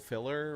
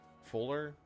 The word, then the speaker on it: Fuller: It's probably like Bughole Filler or something. Fuller. That's a pretty common last name. Bughole Fuller. I'm not saying filler. It's spelled differently than how it sounds.